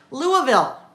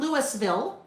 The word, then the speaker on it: Louisville: Louisville. Louisville. Not Lewisville. Not Louisville. Or some people say Louisville. Louisville. Kentucky. Louisville. That's one that can be pronounced so many different ways.